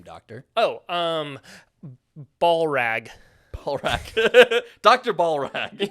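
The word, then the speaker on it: Ballllrag: up what is your name doctor oh um ball rag ball rag Dr ball rag yeah and that is spelled b a l l l l r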